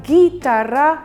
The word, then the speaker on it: guitarra: Y en guitarra la U no se pronuncia.